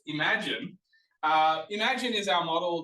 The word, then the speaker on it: Imagen: spelled im a GN we're supposed to pronounce it as imagine just work with me here that's what I've been told and I'm it sounds like IM yeah imagen but I've been told